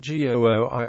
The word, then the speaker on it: Gooi: referred to as het GOI or the GOI area het GOI is the eastern part of the Amsterdam metropolitan area g o i Rhymes roughly with the English name Roy the G is pronounced